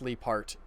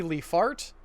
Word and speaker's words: Leaphart: Vincent Leaphart I think it's pronounced leap art it could also be leaf art and Vincent Leaphart was